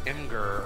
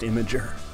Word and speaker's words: Imgur: But you know, I heard that story and I saw it on Imgur or Imager or IMGUR. You know, yeah, I think it's pronounced Imager.